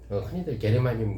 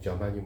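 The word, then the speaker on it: germanium: 되는 초창기의 재료였던 실리콘하모니 게르마늄 그러는데 최근에 와서는 미국식 발음인 저마늄 많이 얘기하죠 그래서 실리콘과 저마늄 갖다가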